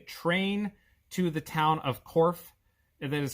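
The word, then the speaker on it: Corfe: to take a train to the town of korf that is spelled c-o-r-f-e the korf castle is a very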